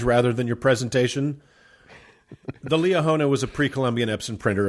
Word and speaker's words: Liahona: And and listeners should Google Leona. It's spelled as it sounds.